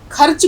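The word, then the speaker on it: ख़र्च: खर्च लिखते लिखते खर्च, खर्च कुछ नहीं होता है। खर्चा या खर्च जो है वो गलत आप अगर बोलेंगे तो वो आपका उच्चारण गलत होगा। आप कहेंगे खर्च।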